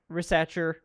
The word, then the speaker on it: Risacher: Um, are you happy with Zack Risacher? Is that how you say it? Yeah, it's French.